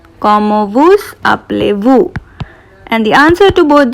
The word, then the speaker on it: Comment vous appelez-vous: And the formal way of asking what is your name is Comment vous appelez-vous? Comment vous appelez-vous? Comment vous, I'm pronouncing S because this is a vowel. Comment vous appelez-vous?